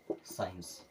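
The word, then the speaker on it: science: क्या सुने हैं साइंस लेकिन एस के बाद में क्या होता है सी होता है अब एस के बाद सी आया तो उसको पढ़ना नहीं है सी हो जाएगा साइलेंट और इसे हम क्या पढ़ेंगे साइंस चलिए अभी तक हम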